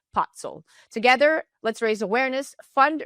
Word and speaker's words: Pacl: It's pronounced Pacl.